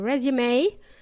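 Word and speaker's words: résumé: In English, they pronounce it as resume.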